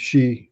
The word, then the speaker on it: Xi: um it depends no I've been told that it's she Xi Jinping but I also oftentimes